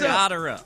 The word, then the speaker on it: Gotterup: That is exactly the pronunciation. It's Gotterup. It's Gotterup. Is it really? I just checked. Yes, it is exactly pronounced Gotterup.